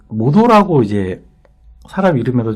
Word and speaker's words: 本: 이게 그렇다고 해서 이제 본어를 반드시 혼이라고 읽진 않아요. 그 모도라고 이제 사람 이름에도 좀 많이 들어가는데, 우리가 이제